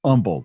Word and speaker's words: Humble: uh the the they humble in texas is humble you don't pronounce so the humble independent